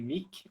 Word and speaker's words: Muck: Apesar do meu sobrenome, a pronúncia correta ser Mick, ou Mick, ele seria um Mick, a treino, né? Mas eu me coloco assim, digamos, o nome artístico, né, de Muck.